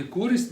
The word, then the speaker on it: користь: отримують від нього користь у слові користь наголос ставимо на перший склад Волошин має зв'язки повсюди